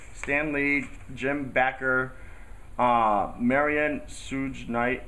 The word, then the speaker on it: Suge: Kim Basinger, Heidi Montag, Lenny Dykstra, Heidi Fleiss, Suzanne Summers, Stan Lee, Jim Backer, Marion Suge Knight, I probably pronounced that wrong, Jim McMahon, and That's Shug.